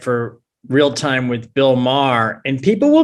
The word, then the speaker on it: Maher: i i write for real time with bill maher and people will mispronounce his name they'll like give it up for bill mayer and it's like you're a comic man how